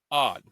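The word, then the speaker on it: Aud: Professional stunt coordinator Eric Odd, that's spelled A U D, told the Daily Wire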